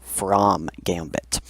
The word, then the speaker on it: From Gambit: It's spelt like you would spell from, but it is called from Gambit. And it is e5 in reply. So this is actually a very sharp reply known as the from Gambit.